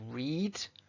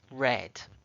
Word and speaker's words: read: The past tense of read is spelt exactly the same, but the pronunciation. So read is the base form, the present. Past, read, but the spelling is the same. We just change how we say it.